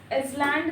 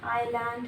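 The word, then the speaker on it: island: उसके बाद है इसलैंड, इसलैंड नहीं है, आइलैंड है, आइलैंड, एस साइलेंट रहेगा।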